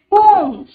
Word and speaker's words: comb: Comb. Comb. B, Comb. B, Very good. Bridge. Bridge. Bridge. Which is the silent letter?